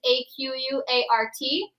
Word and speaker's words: Aquart: All you need to do is type in my name, Aquart, which is A-Q-U-A-R-T. It's spelled like a quart, but it's Aquart.